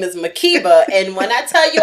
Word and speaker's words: Makeba: Y'all know my full name is Makeba, and when I tell you I get a Makeba, Makaba, Makuba, Mukba, I've had every wrong variation of my